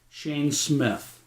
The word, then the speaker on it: Smyth: I've been doing my video in conjunction with Shane Smith. It's spelled Smyth, and he has done a marvelous job.